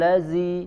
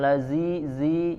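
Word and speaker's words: الذي: di surat al-ma'un ya karena sering dibaca seperti Huruf Zai Auro aital ladzi ladzi ya padahal di sini adalah huruf dzal ya huruf dzal dibaca diucapkan ujung lidah ditempelkan ke gigi seri bagian atas di ya tempelkan ujung lidah ke gigi seri bagian atas jadi bukan lazizi ya tidak ada dosisnya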